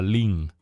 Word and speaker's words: Lin: En la lengua oficial, que es el mandarín, se pronuncia lin.